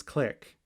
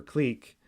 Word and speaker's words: clique: a graph g or some people pronounce this click but i think i prefer clique so a clique in